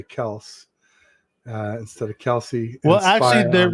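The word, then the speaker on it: Kelce: because everybody kept saying Kelsey, even though it's Kels, and I didn't want to correct them, so I just said, "Okay, fine. Our last name is going to be Kelsey."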